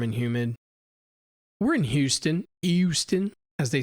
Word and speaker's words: Houston: it's fairly warm and humid we're in Houston Houston as they say here yeah we're right here in Houston they don't pronounce the age that Houston yeah Houston but um I'd say you know Dallas is